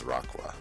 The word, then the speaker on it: Raqua: Raqua, that's another one I learned the pronunciation of, is Raqua. Raqua, okay. A mix between rock and aqua.